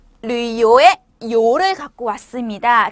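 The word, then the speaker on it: 旅游: 자, 여행 계획은요, 요크, 여행하다는 류요라고 하시면 되세요. 자, 어떤 발음이 더 어려워요? 류요 발음이 좀 어렵기 때문에 두 번 따라해 보실게요.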